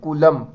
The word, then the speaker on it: Coulomb: ऐसा unit of charge is कूलम। कूलम का spelling देख लो, सब मिस्टेक करते हैं, COULOMB, कोलम।